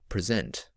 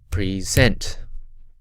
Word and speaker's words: present: second one now let's listen to the word present present present present so hopefully you can hear there that the first syllable is unstressed and the second syllable is